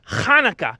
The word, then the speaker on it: Chanukah: telly um it's pronounced hanukkah you know with uh with more of a ha ha like that no more more in the back of the throat actually boys either way